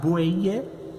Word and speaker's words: buey: Vocês podem perceber, B larga, B corta é o mesmo som, B. Então você vai pronunciar bueye para boi e vaca para a fêmea do boi, a vaca. Então tanto o B de bueye quanto o B de vaca é o mesmo B, né?